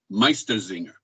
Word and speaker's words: Meistersinger: and they were called meistersingers meister master singers master singer meister zinger that's the german han socks is the